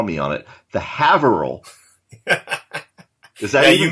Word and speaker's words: Haverhill: So I used to say Haverhill, and John, our friend John McElveen, told me that was wrong. Yep. So what is the correct pronunciation? Haverhill, Massachusetts.